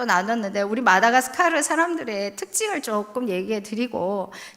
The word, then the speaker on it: 마다가스카르: 마다가스카르. 발음도 어려우시죠? 저희 모치는 마다카르카르 뭐 이런 식으로 발음하시는데, 저희가 섬나라고 아프리카의 섬인데 저희가 본토인과는 좀 달라요.